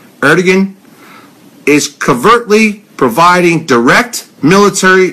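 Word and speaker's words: Erdoğan: are dogging her dog getting high you wanna pronounce his name Erdogan is covertly providing direct military and I said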